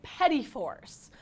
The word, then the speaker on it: petit fours: These orange raspberry petit fours.